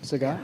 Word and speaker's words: Zagat: Zagat?